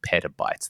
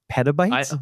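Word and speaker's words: petabytes: Pabytes. Maybe I'm saying it right. Is it pabytes or pabytes? It's one of the two, but it's like a pita chip. Pa.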